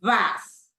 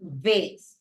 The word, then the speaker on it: vase: Okay, so this word right here, in British English, we pronounce it vase. In American English, we pronounce it vase. Okay, both ways are valid.